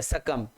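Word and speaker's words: succumb: बहुत प्यारा वर्ड है सकम एस U double C यू एम बी सकम सकम एस U double C यू एम बी इसमें बी साइलेंट है सकम टू सकम टू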